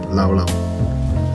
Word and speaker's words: Llao Llao: As most Malaysians pronounce it, Llao Llao.